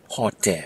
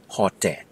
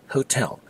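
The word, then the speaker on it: ဟိုတယ်: word for hotel is hot by the way it's one of those English words that have been adopted into the Burmese language with the local pronunciation hot not Hotel so if you're chitchatting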